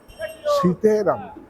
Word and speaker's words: সীতারাম: দেখুন সীতারাম সীতে রাম হ্যা আমাদের উচ্চারণটা সীতারাম আমরা জয় শ্রীরাম বলে কিন্তু জয় সীতারাম কথাটা আমরা নিশ্চয়ই রাম ঠাকুরকে সবাই পূজো করব।